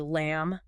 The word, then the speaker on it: lamb: words like dumb or lamb oh right yeah we don't pronounce that b no we don't that's